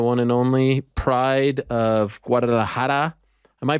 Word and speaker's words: Guadalajara: the UFC, the one and only pride of Guadalajara. Am I pronouncing that correctly? I feel like I'm messing it up. You got it. Yeah, I got it. Guadalajara, wow.